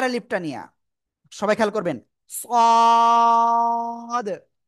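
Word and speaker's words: ص: পেটও agar সাথে লাগে একটু মোটা আওয়াজে উচ্চারণ করব চার আলিফটা নিয়া সবাই খেয়াল করবেন সদ সদ চার আলিফটান সদ ঠিক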